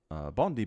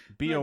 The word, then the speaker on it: Bondi: Bondi Beach was closed after large crowds flouted social distancing advice.